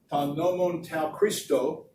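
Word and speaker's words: τὸν νόμον τοῦ Χριστοῦ: This is the Greek, and it's pronounced ta nomon tau Christo, and it literally means the law of the Messiah.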